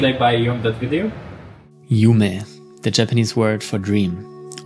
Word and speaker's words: Yume: Yume, the Japanese word for dream, or Yum, as we like to pronounce it, to have a more English and smooth character to it.